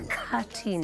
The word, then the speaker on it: Mkhathini: Mkhathini.